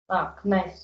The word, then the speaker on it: knives: You should knives and spoons. Uh knives. Knives. Knives. Okay. K is not pronounced.